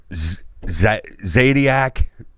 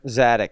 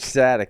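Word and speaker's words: Zadick: Zadiac. Did I say his name right? Bill Zadiac, the USA's coach. Zadok. Coach Zadok, yeah.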